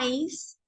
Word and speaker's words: ice: se pronuncian palabras como Ice Ice se escribe i c e pero la e no se pronuncia No la vamos a